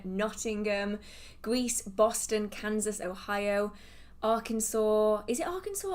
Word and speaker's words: Arkansas: Atlanta, Slovakia, Connecticut, New York City, Virginia, Chicago, Carolina, Nottingham, Greece, Boston, Kansas, Ohio, Arkansas. Is it Arkansas or Arkansas?